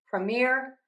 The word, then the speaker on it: premiere: Now, for the beginning, you can either say this unstressed with the schwah, the a sound. Premier, premiere, premiere, premiere.